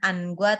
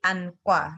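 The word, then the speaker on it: 안과: Jadi anqua, bukan angua tapi anqua gitu.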